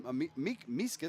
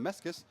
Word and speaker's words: Meskis: And he's got his coordinator, Brian Miskis. Sorry, I'm pronouncing that wrong. Meskis. Tottenville You're grad. going to have to send that family a fruit basket. I have the Meskis. I'm going to stick with Meskis.